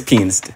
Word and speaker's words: pianist: I need to hear that T on the end, sir.